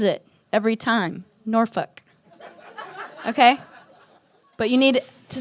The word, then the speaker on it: Norfolk: I have to say Norfolk Street. Even though the GPS pronounces it properly, it's uncomfortable.